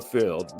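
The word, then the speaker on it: Pfield: again playing at the fill which is the stadium right behind me it's it's called the field with a silent p in fer bille backtack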